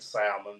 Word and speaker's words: salmon: did good in Ohio they don't prod pronounce the L and salmon but I can tell